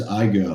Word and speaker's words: Igoe: my name is my last name is I go write anything is I go I go you go we all go but here's how you